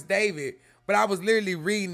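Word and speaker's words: d4vd: It's pronounced I mean Yeah. Yeah. Yeah. I I know. I know it's David, but I was literally reading it.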